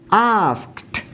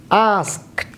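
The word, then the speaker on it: asked: যেমন দেখুন, আস্ক, লাস্টের সাউন্ড হচ্ছে ক, সুতরাং ইডি যুক্ত করার ফলে কী হচ্ছে, আস্কড, আস্কড।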